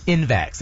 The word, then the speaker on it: InVax: InVax.